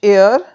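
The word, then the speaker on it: heir: consonant है but sound अब यहां पर एच साइलेंट है अब यह एच से शुरू है पर यहां पर एच साइलेंट है और साउंड किसकी आ रही है एयर की ए की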